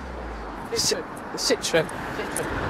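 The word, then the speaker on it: Citroën: How do you pronounce those cars, Jordan? What, that one? Them. Citroen.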